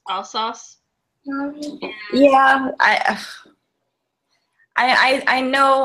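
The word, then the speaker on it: Alsace: yes all sauce region which I want to say else but I think that's wrong I believe it's all sauce yeah I I I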